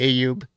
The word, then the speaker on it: Ayub: Well, I say Ayub. Others say Ayub or Ayub. I mean, there's so many different ways you can pronounce it. Everybody, even relatives, say it a little differently each time. So I don't really care one way or the other. I say Ayub. They said Ayub. AY is kind of Ayub. I think that's how you should say it.